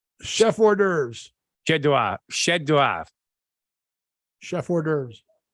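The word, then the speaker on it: chef-d'œuvre: not how it's pronounced Chef hors d'oeuvres yeah it's the f is silent Chef hors d'oeuvres Chef hors d'oeuvres it's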